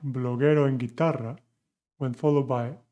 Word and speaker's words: bloguero: So with bloguero, we do not say bloguero. This U is not pronounced.